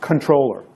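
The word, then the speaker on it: comptroller: It's pronounced controller, even though it's spelled with a PT in there.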